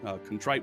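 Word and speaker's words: Kontrit: It's Contrite with no e, spelled with a k.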